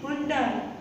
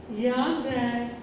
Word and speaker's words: Hyundai: I think most of the people say it Hyundai. It is not Hyundai. It is Hyundai. Hyundai. So, if you have any kind of Hyundai car, now you will not say Hyundai, you will say Hyundai.